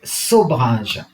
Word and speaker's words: Sobhraj: Mais en fait, ça s'écrit à la vietnamienne, hein. Comment s'appelle-t-il? Sobrage.